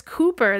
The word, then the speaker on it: Cooper: His name is spelled C-O-W-P-E-R and pronounced Cooper rather than, as I thought when I started writing this episode, Cowper.